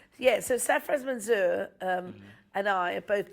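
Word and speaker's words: Sarfraz: Yeah, so Safras Manzoor and I are both big Bruce fans, and we've been friends for a long time.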